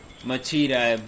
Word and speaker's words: Machida: Machida, and it's like, it rhymes with Vegeta.